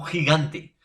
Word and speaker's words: gigante: Y con la I, profesor, por ejemplo, te pongo gigante. Gigante, profesor, se escribe con G. Pero yo te digo jirafa, gigante, jirafa. ¿Tendrán el mismo sonido?